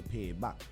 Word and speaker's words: Paebak: We just say Paebak. You check? Right. So the P-A-E-B-A-K is actually comes from the pronunciation of the word payback from a Virgin Islander.